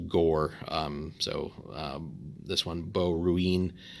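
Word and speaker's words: Ghoere: for example like uh this country here is actually pronounced gore so this one beau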